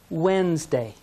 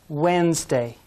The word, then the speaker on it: Wednesday: third day is wednesday if we say all the sounds it looks like red nest day but the d is silent say wednesday wednesday excellent the fourth day